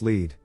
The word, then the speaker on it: Lead: Pronounced Lead, which is about 2 miles further up the hill from Deadwood, South Dakota.